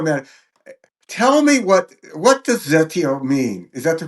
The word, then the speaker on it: Zeteo: before we go, man, tell me what does Zetio mean? Is that the correct pronunciation? Zetio? Zeteo is an ancient Greek Zeteo.